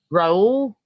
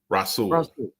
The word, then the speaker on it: Rasul: We have our defensive players of the week for week 14, and they are Raul Douglas. Is that how you say it? Rasul.